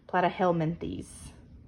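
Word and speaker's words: Platyhelminthes: are your flat worms than plat rhymes with flat these are your flat worms that fall into this phum plat helenes maybe I said that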